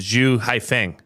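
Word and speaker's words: Xu Haifeng: So it'd be like Haifeng Zhu, but they pronounce it Zhu Haifeng.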